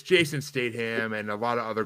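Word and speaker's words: Statham: streaming because it's Jason statam and a lot of other good actors and actresses and you pronounce the T it's STM you son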